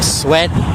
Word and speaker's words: Sweat: So people talk about the Sweat and the Chavez, or it's pronounced Sweet by Qarsherskiyan people. We call it Sweet.